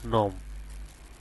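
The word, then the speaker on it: gnome: Same একই রকম এখানে জির উচ্চারণটা না আসে, এখানে হবে নোম।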